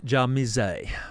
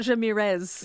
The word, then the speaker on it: Djamirze: I remember when I was in the Supreme Court, they were pronouncing it Jamirez.